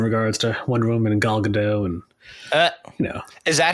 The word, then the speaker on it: Gal Gadot: I have some questions in regards to Wonder Woman and Gal Gadot, and is that how you say it?